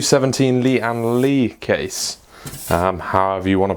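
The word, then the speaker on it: Lian Li: the pc q 17 Lee and Lee case however you want to pronounce Lee and Lee some people say Lee Ann lay however you want to say it now if you don't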